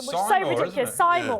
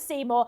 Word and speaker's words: Seymour: even spell Seymour honestly her name isn't even spelled correctly which is so simore I know but she pronounces it Seymour she is the uh